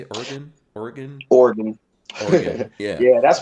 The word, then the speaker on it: Oregon: And then you all had to move out to Oregon. How do you say it? Oregon? Oregon?